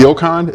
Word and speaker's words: NeoCon: Neocon? Am I pronouncing that?